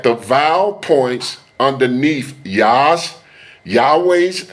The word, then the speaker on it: Yahweh: Notice that the vow points underneath Yas Yahweh's name are different than 3068 and produce the pronunciation Yahooi. The name Yahweh is the most accurate pronunciation of the Most High's name.